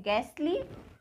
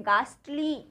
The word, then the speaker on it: ghastly: अब नेक्स्ट है GHASTLY, ये क्या है, इसको हम दो तरह से प्रोनाउंस करते हैं। एक तो इसको बोलते हैं गैसली, ठीक है, और गैसली मीन्स होता है भयंकर, और सेकंड हम इसको बोलते हैं गास्टली, ठीक है।